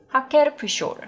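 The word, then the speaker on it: Hacker-Pschorr: 그래서 좀 어려운데 한국에서는 하커푸쇼르라는 이름으로 알려져 있어요. 이 양조장 이름이. 그래서 제가 독일어 발음을 좀 들어봤는데 거의 비슷해요. 하케르푸쇼르 뭐 이런 정도로 발음이 되더라고요.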